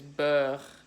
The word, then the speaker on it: beurre: So again, the R is kind of a little bit different. It's spelled B-E-U-R-R-E, and the way you say it is beurre. Kind of like if you're cold. How would you say if you're cold? I'm cold. Here you say beurre.